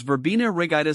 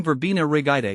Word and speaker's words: Verbena rigida: pronunciation is Vera Ida with the emphasis on the second syllable of both words now that we've got